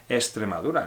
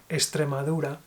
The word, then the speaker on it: Extremadura: I would say Extremadura. Okay, if you say Extremadura, it's fine. Yeah. This is the real one, but in Spanish we are lazy with the X.